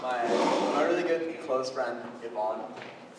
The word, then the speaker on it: Ivan: For our next talk, we're going to have my really good close friend, Yvonne. It's spelled Ivan, but he doesn't like that at all.